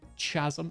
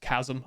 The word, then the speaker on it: chasm: Chazm. No, that's just it's just me. It's not even British people. It's just me. It it is pronounced chasm. I just think it's funnier to call it a chasm.